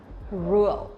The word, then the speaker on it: rượu: But for Vietnamese people, when we pronounce the R sound, we will not pronounce like R in English, but we pronounce like Z sound in Vietnamese or in English, rượu.